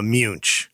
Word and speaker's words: Muench: This is how do you pronounce the name Muench? Munch.